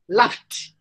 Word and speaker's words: laughed: Laughed. How do you pronounce?